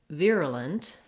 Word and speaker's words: virulent: First of all, the word virulent has first syllable stress, and the VIR has the ear diphthong. So sometimes I write that as EAR, like my ear.